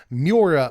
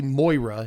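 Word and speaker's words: Muerra: four um that's okay but just okay three mura it's actually Moira is how you pronounce this trash tactician three Mana for a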